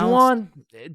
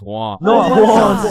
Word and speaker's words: Juan: That's just how it's pronounced. Jan, is there Jan in the room? It's Juan.